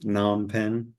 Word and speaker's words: Phnom Penh: It's actually pronounced Phnom Penh.